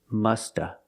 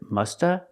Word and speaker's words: must have: must have done it another pronunciation of must have sometimes people don't pronounce the at the end so you hear this you hear Musta Musta example the dog must